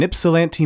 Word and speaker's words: Ypsilanti: Tom Monahan and his brother James bought an Ypsilanti, Michigan pizza joint called Dominic's. I'm so impressed by your pronunciation of Ypsilanti.